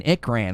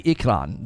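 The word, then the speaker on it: ikran: watched some uh videos they were calling it an rran and I was like why are they saying it that way I was like did I say it wrong and in the movie they say ikron they they kind of have a bit of an accent but they do say ikron basically and I was struck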